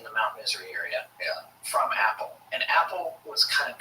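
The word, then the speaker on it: Apol: man like Indrid Cold, who called himself Apple, A-P-O-L, pronounced Apple.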